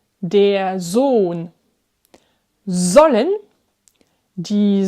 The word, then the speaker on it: Sohn: Tu as remarqué, avant les doubles consonnes, 2N, 2L, le O est plus court. Sonne, sollen, wollen. Alors qu'avant un H, le O est plus long. Der Sohn, die Sohle, wohnen.